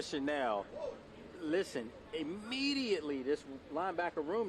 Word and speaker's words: Chenal: It's spelled Chanel. Yeah. You're a fashion guy, and I know you know what Chanel is. That's right. So it's Leo Chanel.